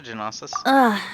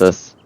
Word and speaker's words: gnosis: So, what's a Genosis? So you noticed. Gnosis. The G is silent, because This isn't fuck something the I'm meant English to language.